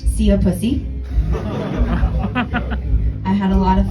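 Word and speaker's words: szia puszi: My favorite is that the saying, "goodbye kisses" in Hungarian is pronounced "see a pussy."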